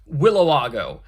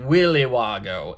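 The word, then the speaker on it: Willa Wago: w-i-l-l-a-w-a-g-o willowago and so the culprit pronounces her name willywago instead of willowago and that's how Sami is able to realize you must be the person who wrote that note only somebody who pronounces it Willy Wago would misspell it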